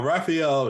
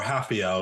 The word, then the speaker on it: Rafael: up I agree now Raphael he or hafio excuse me because I know that ours are not pronounced uh Rafael he's he's